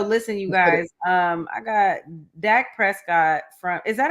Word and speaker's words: Dak Prescott: I got Dak Prescott from. Is that how you say his name? Yep, Dak Prescott.